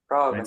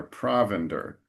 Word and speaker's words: provender: And in the second line, after straw, the emphasis is provender. Provender. So, so as usual, the emphasis in English is a little earlier, provender.